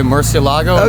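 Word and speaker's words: Murciélago: can you do it uh in uh english i guess we'd say murcielago italian it's like murchilago oh okay so you do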